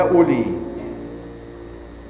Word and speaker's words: أولي: يا أولي، لماذا رسمت الواو مع أنها لا تنطق؟